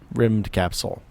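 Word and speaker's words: Rymdkapsel: Rimmed Capsule.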